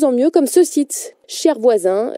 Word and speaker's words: ShareVoisins: Cher Voisin, cher qui s'écrit S-H-A-R-E, partagé en anglais.